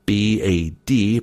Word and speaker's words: bad: he spelled it out b-a-d pronounced bad rhymes with sod ironic isn't it that